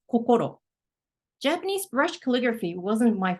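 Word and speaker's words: こころ: is a Kani character meaning heart or mind in Japanese it's a it's read coko Japanese brush calligraphy wasn't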